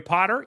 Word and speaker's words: Potter: as we go to the end of twenty twenty four and then into twenty twenty five my name is potter yes it rhymes with the boy wizard host of the social